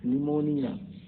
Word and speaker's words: pneumonia: यहाँ देखिए स्यूडोनम, स्यूडोनम में झूठा नाम, और निमोनिया, निमोनिया, निमोनिया में टी साइलेंट है, PNEUMONIA, निमोनिया, निमोनिया, ठीक है।